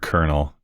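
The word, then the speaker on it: colonel: Not to go on a rant, but this like how dumb is English that you have to pronounce that word kernel.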